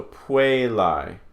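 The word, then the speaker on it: puellae: So, a, is pronounced I, as in aisle. So puelai, quaiso, saipa.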